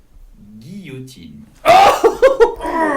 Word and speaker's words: guillotine: You pronounce it correctly in French. You would simply say guillotine.